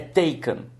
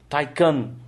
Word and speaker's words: Taycan: esse nome em alemão e inglês as duas pronúncias é they can't depois eu fui leno e descobrir que o